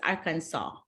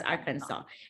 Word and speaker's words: Arkansas: to make sure that when you say Arkansas it's an like an s a w it's a silent s in the end so it's Arkansas okay it's Arkansas and then when you